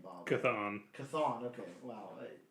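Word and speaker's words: Chthon: this character's name Bob kathon kathon okay wow the CH oh okay yeah that makes sense kathon appear as a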